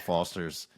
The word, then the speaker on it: Forster: last name wrong cuz they're like oh it's Fosters like the beer. I'm like no there's an R there. It's Foster.